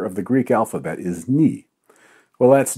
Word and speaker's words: nu: the Greek alphabet is ni. Well, that's news to me. I cracked myself up. Schlin is right, but it's certainly pronounced new by scientists in this context, even the Greek ones I know.